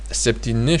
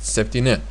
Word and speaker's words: septyni: And well, to be honest, septyni should be pronounced septyni, not septyn. But as we are learning